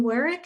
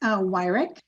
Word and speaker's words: Wyrick: MBTA communities with Jane Werrick. Is that how you say it, Jane? I want to make sure I'm saying it correctly. It's Wyrick.